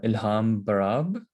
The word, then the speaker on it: Ilham Barab: everybody um today we are joined by uh ilham barab is that is am i saying it correctly